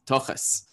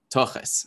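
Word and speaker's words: תחת: And so that turns into tochas, which is like the, you know, again, with the Yiddish pronunciation, the kamatz a vowel turns into an O, and the thav, which in my accent just stays as a plosive, but it's a tochas, and that's tochas.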